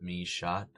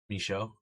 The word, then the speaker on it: Michaud: Please, not me shot. Michaud. Excuse me. Michaud is like French or something.